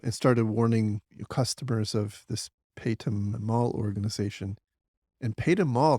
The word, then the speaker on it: Paytm: I think it's called Paytm or pronounced Paytm, Paytm.